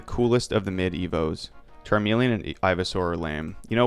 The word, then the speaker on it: Charmeleon: shots in to realize what I did I pronounced it charm Charmeleon like watermelon oh charm melon okay charm melon Fair War turtle is a